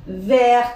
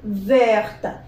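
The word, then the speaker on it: verte: لما اختار لها اللون بتاعها لازم يكون فيمينا، فهقول فيرت فيرت، وخلي بالك هنا التو بنطقها لان جه بعديها الاو، فيرت.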